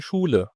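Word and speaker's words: Schule: ودي اتنطق اي عاديه التركيبه الجايه هي استها استيها لما نشوفها قدامنا فدي بتنطق الشين على طول في اي موضع في الجمله نطق الشين مثال على ادوات مثلا كلمه زي شول شول يعني مدرسه سهاط سهاط سهاط شول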